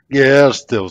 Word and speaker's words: Gertzel: É assim mesmo que se pronuncia? Gertzel, certinho.